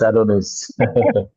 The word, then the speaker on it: Adonis: Oh, President Adonis. Is that how it's pronounced? Yes, Adonis.